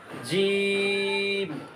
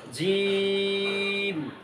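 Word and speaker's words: جيم: সাথে এইভাবে টান দিবেন জিম এই যে জিহ্বার মাঝখান তালুর মাঝখান জিম জিম তিন আলিফ করে টান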